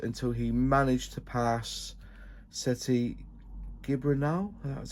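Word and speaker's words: Sete Gibernau: So Global Stampede, Valentino struggled until he managed to pass Seti Gibranal, that's how you say it, in 2004.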